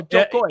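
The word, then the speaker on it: Jo Koy: You have to say it like, oh, Jokoy.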